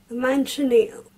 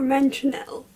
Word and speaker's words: Manchineel: Manchineel or Manchinel, depending where you are. (US vs Mexican pronounciation), has small fruits, is